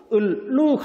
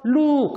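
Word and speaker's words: ลูก: 요거는 러링이라고 하고요. 영어의 L 발음하고 똑같습니다. 영어의 L 발음. 그래서 여러분들이 이거를 발음을 할 땐 먼저 마음속으로 을을 발음해 보세요. 을. 혀끝이 천장에 닿죠? 룩 하고 그 다음에는 을을 하는 것처럼 해서 룩 하면 정확한 러링 발음이 되는 거고요.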